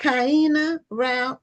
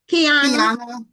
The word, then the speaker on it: Kyina: looking for at our last guest for the night and her name is Is it Cena rout? Is that how it's pronounced?